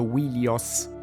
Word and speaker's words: Wilios: In greco Troia veniva chiamata anche Ilion o Ilios, ma sappiamo che probabilmente nell'antichità il nome era pronunciato Wilios.